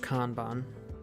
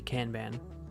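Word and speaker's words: Kanban: thing okay and then this is the conon board pronounced kbon I'd love it to be can ban it's not so this tells you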